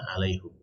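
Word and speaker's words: عليهم: Dalam qiraat itu bisa dibaca alaihum. Ya, bisa dibaca alaihim, bisa dibaca alaihum.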